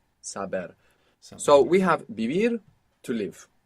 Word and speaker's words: vivir: saber so we have bibir to live we need to open up the association of the letter V to include that soft B maybe you look up